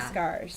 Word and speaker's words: Fiskars: It's Fiskas or Fiskars, right? Yeah. Fiskars. Fiskars. Yes.